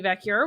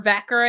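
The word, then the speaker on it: Vaquer: the absence of Stephanie vur which I thought was or vaker I think is how you pronounce her name we finally got to the bottom of that uh but stokeley comes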